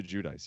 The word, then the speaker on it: Giudice: Like, Is that how you pronounce the name? Judice? Teresa Giudice, yeah.